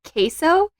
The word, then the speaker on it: Kso: But if you're looking for it on Google or something, it's Shop Queso, which is spelled KSO. So it sounds like the cheese, but it's not.